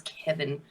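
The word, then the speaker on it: Kevan: a good leader too I hate that his name's Kevin but it's spelled weird isn't it Kevin with an A but it's still like yeah but it's still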